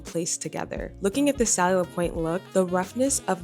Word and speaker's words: Schiaparelli: the video is like, "This is how you pronounce this Italian brand. It's Schiaparelli." But, then he was just like, "But, Americans tend to say Schiaparelli."